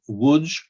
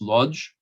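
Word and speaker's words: Łódź: professor mitchell's she is originally from uh woods or as jews pronounces lodge she is an accomplished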